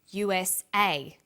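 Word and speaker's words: USA: is pronounced separately but the last letter is pronounced more strongly because it carries the primary stress so we say u.s.a ASAP ABC and TV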